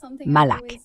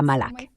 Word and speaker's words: Malak: J'aime que mon prénom soit prononcé Malak. pas Malc, on me le fait souvent remarquer.